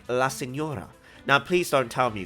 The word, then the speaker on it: La Signora: Now, I know you guys know there are words out there with a silent G, just like La Signora.